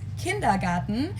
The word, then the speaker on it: Kindergarten: ones and that is kindergarten in German we pronounce it kindergarten and it literally means Children's Garden and even